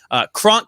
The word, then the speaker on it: Kronk: Kronk comes in at my tight end. This is another obvious choice. I mean, it rhymes with Gronk.